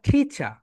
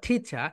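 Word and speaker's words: teacher: একটা হচ্ছে ব্রিটিশ, ব্রিটিশরা এখানে এখানে বলবে টিচা, বলো টি, টি চা, টিচা, টিচা। অ্যান্ড আমেরিকানরা বলবে টিচার, টিচার।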